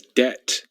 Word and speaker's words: debt: The fourth word is debt. It does have a B in it. I'm not exactly sure why it has a B in it, because that B is completely silent.